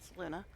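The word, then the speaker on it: Selûne: I know that looks like it should be saloon, but every in the game pronounces it saloona.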